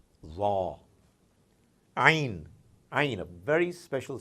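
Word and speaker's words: عين: Ain, ain, a very special sound, ain.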